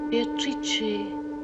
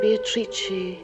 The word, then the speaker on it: Beatrice: It is pronounced Beatrice in Italian, which makes it very beautiful. Meeting Beatrice on the Ponte Vecchio.